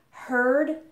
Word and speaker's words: heard: Hear and overhear in the present have the ear sound. But in the past, notice that the spelling doesn't really change much. We just add a D, but the vowel sound actually changes. So instead of ear, now we have er. So in the past, we pronounce them heard and overheard.